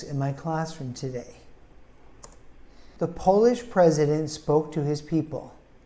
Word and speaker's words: Polish: before the graduation ceremony polish is an adjective for a person from Poland now we emphasize the first syllable but it has a long o sound polish we also emphasize